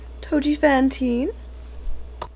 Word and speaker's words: Touji Fawnteen: manage the best she knows how all right toi Fantine yeah that's me was um my pronunciation of your name no you got it